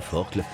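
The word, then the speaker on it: Forclaz: col de la forkle se prononce bien forkle il est aisé de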